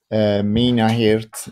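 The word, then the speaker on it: Minnaert: light and color in the outdoors by mgj minahurt it's spelled m-i-n-n-a-e-r-t and it's uh there are many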